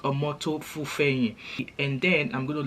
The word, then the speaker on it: Omoto Fufeyin: So in this video, I'm going to be talking about Very Dark Man, Solomon Buchi, Prophet Jeremiah Omoto Fufeyin. Yeah, that's how it's pronounced. Omoto Fufeyin.